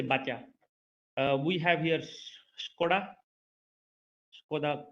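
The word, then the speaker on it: Baťa: So, for example, we have here Batya or Bata. So we say Batya.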